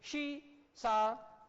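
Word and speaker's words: seesaw: ठीक है, तो वन डे सीसा, ये वाला बच्चों उच्चारण देखो, यहाँ क्या बोलना पड़ेगा, शी, है ना, सी नहीं बोलना पड़ेगा। वन डे शी सा, एक दिन बच्चों उसने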